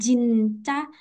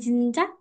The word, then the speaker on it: Jin: Kita kan ngomongnya bukan Jin kayak Indonesia ngomong Jin dan Jun gitu, bukan. Tapi kita ngomongnya Jin, Jin gitu. Kayak tipis, lebih tipis gitu.